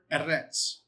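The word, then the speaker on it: ארץ: If I go to this word earth, okay, the word earth is the word eretz.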